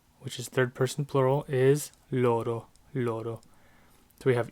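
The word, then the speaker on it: loro: then finally they which is third-person plural is Lord oh Lord oh so we have yo - Louie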